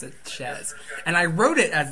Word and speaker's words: Chez: name it's sheap Posh but you're supposed to pronounce it Chez and I wrote it as it's supposed to